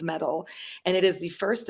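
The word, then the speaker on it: Mettle: an app called metal me ttle e though pronounced metal and it is the first and only uh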